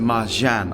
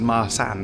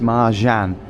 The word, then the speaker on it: Marcan: So it is pronounced Mahan. I thought it was Maran or Maran or something, but it's Mahan.